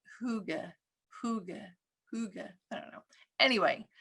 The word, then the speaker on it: hygge: we'd talk about and i looked up this pronunciation multiple times um and i saw a little variations but basically it's hygge so and i heard huge hygge very like americanized right um and then